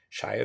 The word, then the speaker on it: Shire: of stats for sure shire or shira well in lord of the rings is shyer it's shyer here i think and i'm